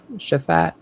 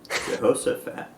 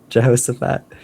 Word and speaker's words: Jehoshaphat: Aza fathered Japhat. Jehoshaphat. Jehoshaphat.